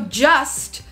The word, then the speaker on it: just: should ask for help we dropped that t we do not pronounce it so just sounds like just right just an S I'm just saying all